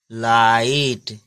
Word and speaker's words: light: ठीक, इसी तरह नेक्स्ट एग्जांपल देख लीजिए LIGHT, इसमें भी GH आया है, तो इसको हम पढ़ेंगे नहीं। ठीक है, ये GH को हम पढ़ेंगे नहीं, इसको साइलेंट कर देंगे और क्या पढ़ेंगे, केवल लाइट।